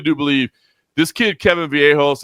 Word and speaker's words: Vallejos: I mean, I really do believe this kid, Kevin Vallejos, it's they pronounce it with the Argentinians like Vallejos or whatever. I say Vallejos, but Kevin Vallejos against Danny Silva, phenomenal fight, number one.